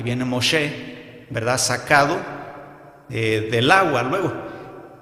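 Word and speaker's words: משה: bueno, la interpretación es Moshe, ¿verdad? O la pronunciación, mejor dicho, Moshe, hermanos del hebreo, Moshe, y entonces que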